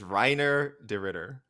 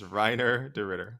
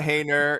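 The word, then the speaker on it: Reinier de Ridder: get ghee on he can explain where i'm mispronouncing renee duran listeners it is it is so much easier it is reiner de ritter it is reiner de ritter it's not it's not hey nia it's not haner it's not it's not right right it's not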